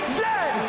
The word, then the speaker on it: Z: And it is pronounced Z, not Z. Z.